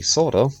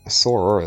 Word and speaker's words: Sora: with the material um that is actually soda or sora as most of westerners probably know a mass i prefer going with the japanese pronunciation because soda literally means sky and his other major